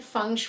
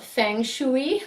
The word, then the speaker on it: feng shui: your Fiji and I'm here today doing a fun video for you so something a little new I want to give you a little bit of information about what funu is because that's a question I get asked